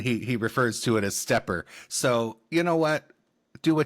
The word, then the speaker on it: SteppIR: They do have a couple videos up on their website with a very nice representative, and he refers to it as SteppIR.